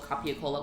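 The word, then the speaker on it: capicola: I think gabagool is spelled copia-cola. Well, never makes sense. Copia-cola? That's how you spell gabagool. Gabagool is really copia-cola, but it's the way people pronounce it.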